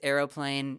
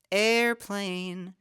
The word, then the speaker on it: aeroplane: and that one has its Aeroplane in three syllables not two syllables so it's not airplane here in your aane